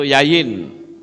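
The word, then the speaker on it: יין: Yod, yod, nun, sofit. Itu yayin.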